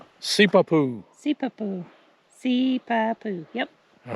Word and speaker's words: Sipapu: All right, pronounce it for us, Mrs. C. Sipapu. Sipapu.